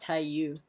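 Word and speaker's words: 太陽: I don't know if this is an English dub thing, because they say Taiyo referring to sun in Japanese, but it's actually pronounced Taiyu.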